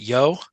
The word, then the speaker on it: Yeoh: Is it Yeoh? It's Yeoh. Yeah. Yeoh. Okay. Yep. Yeah, it's Michelle Yeoh.